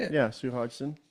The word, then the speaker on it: Hodgson: Yeah, Sue Hodgson. How do you say it? Hodgson? It's not Hodgkins? No.